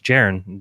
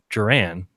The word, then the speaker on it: Jeran: really liked your name I said no it's gerund because oh okay well where'd your mom get